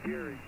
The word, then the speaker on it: Gary: I pronounce it Gary. All right, Gary.